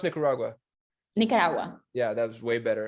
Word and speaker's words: Nicaragua: so you're gonna but what how do you pronounce nicaragua nicaragua yeah that was way better and wait so